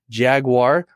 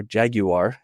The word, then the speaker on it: Jaguar: Nikolaj has collaborated with clients who have spoken at renowned organizations such as AWS, Jaguar, or Jaguar, as the Brits say it, Rolls-Royce, and Airbus.